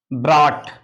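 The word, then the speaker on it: brought: में ब्रॉट इसको देखेंगे ब्रा ट तो जीएच को क्या कर रहे हैं साइलेंट हो जा रहा है यहां जीएच को क्या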